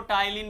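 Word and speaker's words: Ptyalin: पहला है salivary amylase, जिसको टाइलिन भी बोलते हैं। पी इसमें साइलेंट होता है, पहली एंजाइम।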